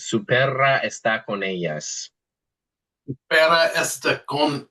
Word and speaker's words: está: Yeah, and just remember that when you see that accent, you got to give it some pop because actually there is a word esta, and that's a big difference because esta is this, and esta is he or she is, right?